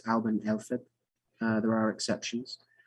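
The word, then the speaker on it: Alban Elfed: So I want to talk about a Druid celebration as well, which is generally pronounced Alban Elfib.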